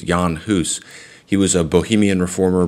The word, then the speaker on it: Jan Hus: video on Jan hoose sometimes people pronounce it John Haas or John Huss it's Yan Huss he was a Bohemian